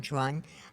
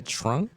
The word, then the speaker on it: Tran: the Stars J Tran or the Vietnamese way to say her last name Jen Tron um what what that's how you say it in Vietnamese I I didn't know that I thought it just TR Tran is like how like American people say it but Venom say trun trun these people man y'all